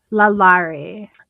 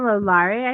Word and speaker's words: Lalaurie: Lalaurie. Madame Lalaurie, I think is how you say her name.